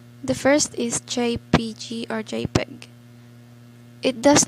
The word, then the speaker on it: JPG: first is jpg or jpeg it does not work well on lettering line drawings or simple graphics jpg are relatively small in file size and supports 16 million colors it is pronounced as jpeg is it the short